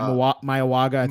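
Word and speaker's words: Mauigoa: Yeah, Mayawaga.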